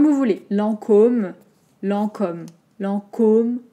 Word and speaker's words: Lancôme: voulez lancôme lents comme lancôme lancôme donc juste attention aux envoyés nasale vous connaissez maintenant lent en comme l'an comme hockey et combien de marx